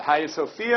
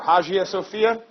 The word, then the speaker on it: Hagia Sophia: s OPH I a hiya Sophia or Hagia Sophia this would be calm